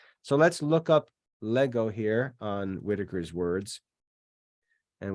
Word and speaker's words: lego: It's not legeo, it's lego.